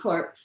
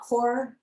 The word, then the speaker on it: B Corp: Um so what is a BC Corp? Uh BC Corp stands for certified BC corporation. Um so it is pronounced corp uh not core.